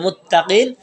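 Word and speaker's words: متقين: মুত্তাকিন, এটা যদি আলিফ লাম সহ আসে তাহলে এর উচ্চারণটা হবে আল মুত্তাকি, আর যদি আলিফ লাম ছাড়া আসে তাহলে মুত্তাকিন, তোমার ইয়াটা পড়ে যাবে।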